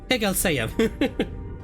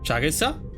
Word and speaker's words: 해결사: 해결사야. Yeah, what Don Quixote said. How do you pronounce it? 해결사! Shagelsa?